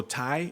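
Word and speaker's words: Tsai: that I had Joe Tai is his name that's the next owner is it like like General style like General style chicken or something like that yeah like the tea is silent I saw I guess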